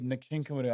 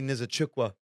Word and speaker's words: Nzechukwu: Yeah, like you saw that Kennedy Nkinkwadu, I can't pronounce his name. Kennedy Nzechukwu.